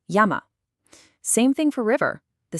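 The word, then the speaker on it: 山: But in Japanese, since you can't end with that N sound, unless it's the special N, it has to expand into two open syllables. Yama.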